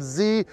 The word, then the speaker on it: Z: calling this z not zed well first of all we're in las vegas nevada so we're in the united states and it's pronounced z the letter like that in canada we say zed however in japan for